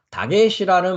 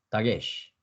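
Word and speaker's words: דגש: 그래서 다게시라는 말은 히브리어로 여러분들이 보면 달렛에 뭐가 있습니까? 이제 연습상 카메츠가 있죠. 그러니까 따, 그죠? 그다음에 기멜 밑에 뭐가 있습니까? 젤에 에 발음이 있죠. 그러니까 기역의 에 발음이니까 게, 그죠? 그다음에 시 발음입니다. 그죠? 그래서 다게시, 다게시.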